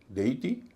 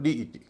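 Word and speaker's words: deity: इसको डी टी नहीं कहेंगे कि डी ई आई टी वाई है। इ आई का उच्चारण बड़ी ई हो रहा है। डी टी कह रहे हैं। ऐसा नहीं इसका उच्चारण होगा डी ई टी।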